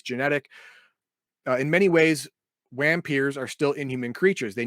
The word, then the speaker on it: Wampir: Okay, Wampiers, pronounced Vampirs. Nope, Wampiers.